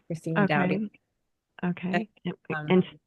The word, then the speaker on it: Doughty: Christina Dowy. Okay. And spell that out for everyone. Yeah. Well, Christina is the ch. So ch r i s t i n a. And my last name is Douty.